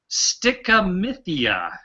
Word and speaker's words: stichomythia: The word is stickamithia. Stickamithia. Stickamithia. Okay. So is stickamithia spelled like A?